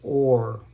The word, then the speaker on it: Ur: Or it's called It's pronounced ore.